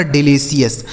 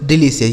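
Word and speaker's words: delicious: डिलीशियस। ये देखिए कितना आसान है। अगर आप यह याद रखते हैं कि सी आई ओ यू एस का उच्चारण सी एस होता है तो इसे आप आसानी से पढ़ लेंगे।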